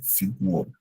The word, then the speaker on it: Figur: Und meine schlanke Figure. Figur, Just u, Figur.